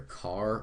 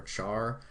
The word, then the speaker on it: char: is CH h r you can pronounce this either car or Char I prefer car though all right and then